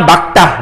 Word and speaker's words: 맑다: 그런데, 요, 리을, 기역, 쌍 받침이 있을 때, 리을, 기역은 뒤에는 기역으로 읽어야 돼요. 날씨가 맑다, 막다.